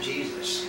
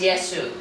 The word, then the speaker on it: Yeshua: It was not Jesus. Which depending on how Jesus or Jesus, right? J-E-S-U-S is Yesu, right? Yeah. It's basically a mispronunciation of the name.